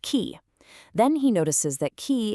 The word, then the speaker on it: chi: He follows the word chiasmus back to the Greek letter chi, which is shaped like an X and pronounced ki.